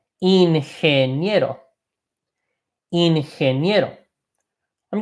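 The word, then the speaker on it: ingeniero: go into engineer okay in handy get o in hand yet o in hand you know I'm gonna make a small pronunciation point I'll highlight it in green here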